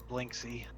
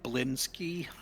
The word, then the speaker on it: Blinsky: Blinksy. It's actually Blinsky. I've been saying it wrong.